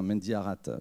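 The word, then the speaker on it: Mendiharat: nos trois invités martin mendy haras prononce le thé ou pas on peut prononcer le thé martin mendy arrate dramaturge metteur en scène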